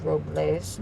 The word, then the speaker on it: Robles: it us approvals well the correct pronunciation is Robles but they call it Robles whatever I hope it's